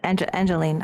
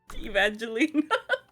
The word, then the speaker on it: Evangeline: Sister Angeline. Why do I keep saying her name wrong? Evangeline.